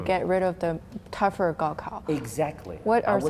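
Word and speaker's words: 高考: Compared to previous year's Gaokao.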